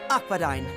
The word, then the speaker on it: Akbadain: Next stop, Akbadain.